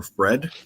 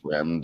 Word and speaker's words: Fremd: Roman Kopylov and Josh, how do you say Fremd or Fred? Fremd, yeah.